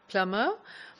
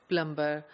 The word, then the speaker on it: plumber: do not have a substitute for this word plummer I am sure more than half of the English speakers in Pakistan pronounce this word as plumber' so what they do is they pronounce the